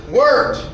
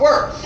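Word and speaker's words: wort: water is now called worked so we pronounce it w-e-r-t it's spelled w-o-r-t that's because the German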